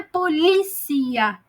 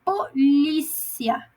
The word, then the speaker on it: polícia: Então não é polícia, é polícia. Vocês entendem a sílaba átona, a diferença?